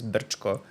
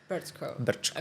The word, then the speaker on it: Brčko: It's hard to pronounce it, but the way you do it is Brčko. Brčko, okay. Yeah. Brčko. So the ch is is a difficult one, yeah.